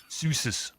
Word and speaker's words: Zeus: Zeus's. Do you know how to pronounce Zeus, the Greek god, in German? Would be surprised now. Fact 10 might surprise you. It's Zeus.